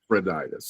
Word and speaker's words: Epaphroditus: Epaphroditus. Yeah, he's mentioned in chapter 2. Yeah. So imagine them. Well, Epaphroditus doesn't die.